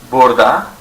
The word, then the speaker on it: burada: Burada or burada. You can pronounce it both ways. We usually pronounce burada, and it's spelled both ways.